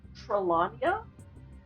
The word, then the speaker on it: Trelania: It's, as well, I've been told it's Trelania. Trelania. So, okay. Because I always look at it and I'm like, Trelania?